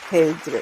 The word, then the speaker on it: Pedre: It's like it should be Pedro, but you know, in Haiti, when they're transcribing my name, they put an E instead of an O. So now they put an accent on the E, make it like Pedre.